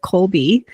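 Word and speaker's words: Kolbe: I don't know if you've heard of Colby. Um, it's spelled K O LB E.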